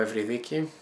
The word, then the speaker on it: Eurydice: Paul Eurydice, and today I'm going to be presenting you with my version of the myth of Orpheus and Eurydice, or Eurydice in Greek, which is the correct pronunciation.